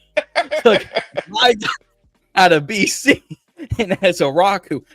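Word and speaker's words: Ezeiruaku: out of BC and as a Rocku, no one can say his name correctly apparently on national media. like as as a as a as a rockus or something. It's as a rocku and y'all took my 44.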